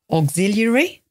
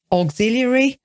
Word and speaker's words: auxiliary: question but it usually needs an auxiliary verb auxiliary perhaps you want to practice pronouncing that because it's difficult even for me auxiliary a u x i l i a r